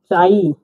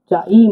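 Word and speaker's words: чай: আমরা পেলাম হচ্ছে এইরকম এটা উচ্চারণ হবে ইংরেজি বর্ণের সি এইচ এর মত চ এর মত উচ্চারণ হবে চ উদাহরণ পড়ছি আমরা চাই চাই মানে হল চা এটা কি লেখা আছে ভালোভাবে লিখে দিচ্ছি এইরকম এ আর এটা হল আই চাই সি এইচ এ ই চাই চাই মানে চা।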